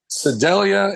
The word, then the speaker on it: Sedalia: Sedalia is how I pronounce it.